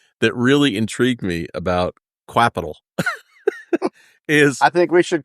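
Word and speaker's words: Qapital: but Capital it's I I actually had to figure out it's actually pronounced Capital but we can call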